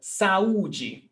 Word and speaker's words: saúde: So saúde. When we separate saúde, we've got 3 syllables.